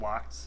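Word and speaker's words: LOX: lock um uh liquid oxygen uh which is pronounced locked uh for short uh started i think they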